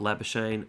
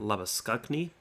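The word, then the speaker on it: Labuschagne: just say whatever's easiest so not lab oisin but love a skug knee and I'm doing my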